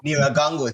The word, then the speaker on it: Nyiragongo: Nyiragongo. Thank you for that pronunciation.